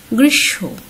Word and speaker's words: গ্রীষ্ম: যেমন রশ্মি, গ্রীষ্ম উচ্চারণ, এটি অনেকে ভুল উচ্চারণ করো, গ্রীষ্ম উচ্চারণ করো, আসলে কি হবে গ্রীষ্ম, ভস্য লেখা আছে উচ্চারণ ভস্য।